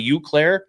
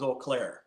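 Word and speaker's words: Eau Claire: be at the oakair or some people say uair do you say uair or olair well when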